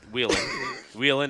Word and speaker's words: Wheeling: Wheeling, not whaling.